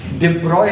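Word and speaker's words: de Broglie: और इसमें अभी हम डी ब्रॉगलीज वेव, डिब्रॉय है इसका प्रोनाउंसिएशन, लेकिन अभी हम लोग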